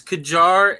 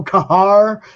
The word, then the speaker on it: Qajar: Yeah, so, yeah, the way it's pronounced is Qajar and Qajaria. Qajar and Qajaria, because you know I was going to go Kahar and screw up right away.